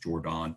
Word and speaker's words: Jordan: Again, pronounced Jordan, same dude.